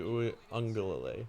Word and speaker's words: Uiagalelei: I can, but I want to know if Forrest can remember how to pronounce his name. DJ Uiagalelei.